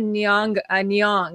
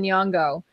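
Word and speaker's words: Nyong'o: I said Nyong instead of Nyongo.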